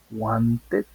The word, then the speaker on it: wanted: t es decir que cuando los verbos terminen en d y terminen en t vamos a poder hacer sonar la Ed cuando querramos hacer la